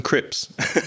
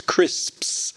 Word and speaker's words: crisps: My wife does as well because she's a Spanish speaker and she she'll say, "Um, can I have some crips?" It's crisps. Crisps. That's the word.